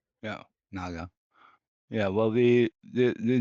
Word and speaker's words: Nager: I'm hopefully um pronouncing that correctly. Yeah. Naga.